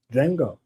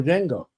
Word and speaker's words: Django: and he's talking to Django. He's like and the D is silent.